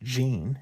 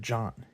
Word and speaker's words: Jean: Not pronounced Jean as it is spelled, but John.